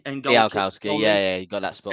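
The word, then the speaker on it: Bialkowski: So that's I should pronounce his name right. Bielkowski and Bielkowski, yeah, you got that spot 8.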